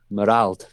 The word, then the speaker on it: Marald: So Merald, his name is. He's a Dutchman from Holland. That's spelled Marald. Merald.